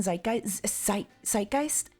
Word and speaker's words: zeitgeist: You need to pronounce Z like TS in zeitgeist.